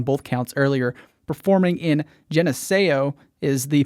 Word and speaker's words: Geneseo: Performing in Geneseo is the pronunciation that I looked up while we were